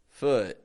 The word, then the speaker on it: foot: Sometimes we keep the lips totally neutral, keep the jaw very close together, and we get foot, instead of food.